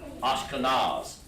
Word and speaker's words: Ashkenaz: And it's called, of course, the way you spell them is N-A-Z. That's how you pronounce it in Hebrew. Ashkenaz. They pronounce it Ashkenaz. Not too much different.